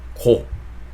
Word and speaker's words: go: 그래서 해주시면 되는데, 제가 지금 말씀드리려고 했던 거는 뭐냐면 이 단어를 go 한 단어로 발음하기보다는 약간 go 약간 마지막에 우 발음을 살짝 넣어주시는 게 좋다라는 거 말씀드리려고 했던 거고요.